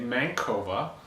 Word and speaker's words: MANCOVA: 50 or whatever and i say mankova but i also hear people say mankova yeah and it sounds like men cover is the cover of a newspaper and the man on it okay yeah but joke aside